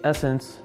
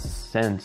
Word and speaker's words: Essence: Fortunately for me, Essence, you see over here, this store right here, for those that didn't know, it's pronounced Essence, it's not Sense. I know it just says Sense because it's two S's.